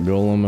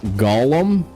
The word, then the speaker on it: golem: I don't want to deal with that golem if I can help it. Dude, did you know did you know it's pronounced Golem and not Gollum like the freaking uh Lord of the Rings character.